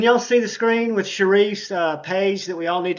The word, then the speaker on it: Sharif: Is that how you pronounce it? It's Sharif.